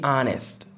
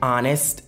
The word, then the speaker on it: honest: Mais ici, honest est une exception à la règle. On ne prononce pas le H.